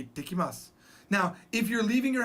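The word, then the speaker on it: いってきます: You say, ittekimasu. I'll be back. Ittekimasu. There's a double T.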